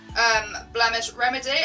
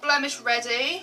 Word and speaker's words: Blemish Remedy: holy grails there Monroe's blemish remedy I've been calling it the wrong thing for so long I thought it was called blemish ready and up and saying